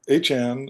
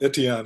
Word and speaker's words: Etienne: As I said, New Orleans before picking up Achan, however you pronounce it, since it's not Etienne anymore.